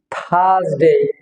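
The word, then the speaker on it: Thursday: হবে Owens day দেন থারসডে এখানে যেটা আছে যে রে যেটা আছে আর আর কারণ এখানে রে হয়েছে এখানে আরটা উচ্চারণ হবে না থারসডে থারসডে এখানে দুইটা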